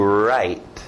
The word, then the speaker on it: write: Esse é um verbo que você faz com a mão e a caneta, escrito W, mas som do R, to write, to write, to write.